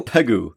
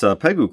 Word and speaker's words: Pegu: How is this one pronounced? Pegu? It looks like ragu. Let's go Pegu.